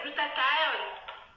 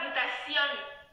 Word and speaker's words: glutathione: Glutation, ça n'existe pas. En anglais, c'est glutathione. Ce n'est pas glutation.